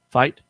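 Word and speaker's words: Fite: His name is Fit. I don't even know how you say it. Fight. How you say that? F-I-T-E? Fight.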